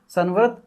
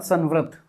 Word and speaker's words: संवृत: मैं इसको क्या बोला? अर्ध संव्रत। वृत्त नहीं है वृत्त है। व ऋत इसमें नीचे ऋ की मात्रा है।